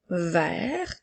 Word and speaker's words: vert: le son est attention le son e même s'il n'a pas d'accent ça fait le son e vert puisque le E est suivi de deux consonnes il fait le son